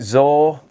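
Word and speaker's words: Zaor: It's one of them, is it Zor? I think they're pronounced Z-A-O-R.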